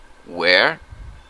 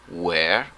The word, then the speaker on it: where: mispronounce the word we're confusing it with the pronunciation of the to be verb were so please repeat with me where were where were where were excellent perfect now we have a question